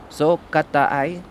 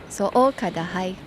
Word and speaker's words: So kadahai: I can tell you're saying wrong. Let's hear it from a pro, okay? Welcome, Miss Fang. Okay, let's find a pro. Are you pronouncing right? So kata ai. Almost. But not quite. Can you show us how it should be? So kadahai.